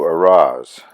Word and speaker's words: Arras: catch another train to Arras ar-ar-ar Ras I don't pronounce the S on the end I guess where I could